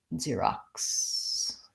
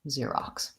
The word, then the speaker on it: Xerox: we say it mm-hmm Xerox I started writing at a K so it's spelled with an X Xerox and first syllable stress long short Xerox also but his additional